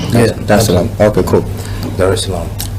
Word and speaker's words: Dar es Salaam: Did I pronounce that right? Yeah. Dar es Salaam.